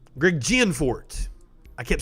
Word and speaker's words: Gianforte: like the newly elected governor of montana greg gforte greg gianforte i kept saying it wrong last night flips